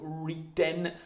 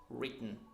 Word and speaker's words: written: like like those ones but the proper pronunciation the proper right pronunciation is written so no W sound just start with the are so round your mouth like this written and then just swallow the e sound not to retain not